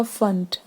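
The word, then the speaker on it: Pfund: Fourth वाले का नाम रख दिया ब्रैकेट सीरीज, एंड लास्ट वाले का नाम रख दिया फंट, पी साइलेंट है.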